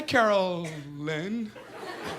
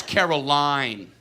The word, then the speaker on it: Caroline: Hi, Carolyn. It's Caroline. It's Caroline.